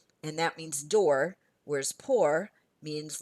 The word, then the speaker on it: port: pronounce the C but the word poor p o r t for Port I don't hear the T poor if I put